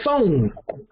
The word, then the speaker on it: phone: would say just like phone phone stuff will a p h o n e but phonetically that's f o n e so or phonetically interchangeable